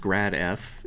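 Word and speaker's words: ∇f: So we want to find, this is pronounced grad f, if f of xyz is 2x squared y squared plus yz minus x.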